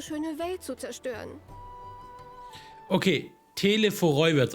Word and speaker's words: Telophoroi: Okay, Telephoroi wird es ausgesprochen.